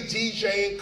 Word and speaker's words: DJing: in the English language the G is not missing this is how you say this in fact you say DJing cutting mixing scratching like you would say violin or Berlin or penicillin or any of the end